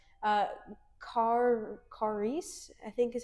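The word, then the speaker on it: χάρις: It's kind of um I'm going to mispronounce it really bad again. Uh charis, I think is how you say it.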